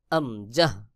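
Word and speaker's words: همزة: হবে হলকের শুরু হইতে হা এবং আমজাহ দুইটা হরফ একই জায়গা থেকে উচ্চারণ হয় যেমন হামজাহ হা আমজাহ এরপর রয়েছে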